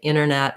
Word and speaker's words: internet: the T, but when there's an NT combo, a lot of times you'll hear people leave that T out. So they might say internet rather than internet, horizontal rather than horizontal.